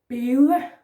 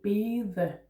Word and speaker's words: bede: And note here, we don't say bede. It's spelled like that with the soft D, but we don't say it. Må jeg bede om en is? Yeah, soft D.